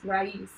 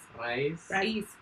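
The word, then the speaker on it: raiz: So E is A, and I is E. So it's Raíz. You gotta have the ra. Raíz.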